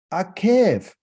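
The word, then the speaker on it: עקב: So the word because in Hebrew means akev.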